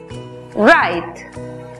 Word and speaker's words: right: En la palabra correcto, que se escribe, vemos que la GH es muda antes de T. La I toma su sonido abierto. Por lo tanto, la pronunciación es right.